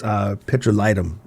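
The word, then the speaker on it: petrolatum: And so naturally, if someone says it's actually not petroleum jelly, it's petrolitum, if you say it correctly.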